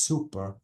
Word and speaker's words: super: oh Bravo so guys super is only one p and I have to pronounce it as super and this is supper with double P this is something strong